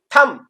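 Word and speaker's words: thumb: यू से बन गया अ, और ये बी साइलेंट, तो नम, ये हो गया नम। ऐसे ही थम में भी ये भी एक सिलेबल है क्योंकि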